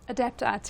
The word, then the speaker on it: Adapt IT: How do you pronounce the company? Adapt IT, David.